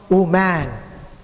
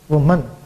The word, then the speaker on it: woman: man but w m a n it's not om man it must be woman c i l d r n again a